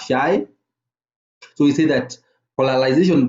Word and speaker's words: chi: we use this a Greek support that is pronounced as shy so we see that